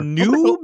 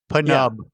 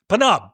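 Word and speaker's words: Pnub: Noob. Is that how how is that what he calls? Noob. No. Pu. What is how they pronounce it? Panub. Panub.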